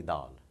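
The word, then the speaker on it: دال: Dal is simply Dal, but not D. It's, well, not as sharp as D, it's the.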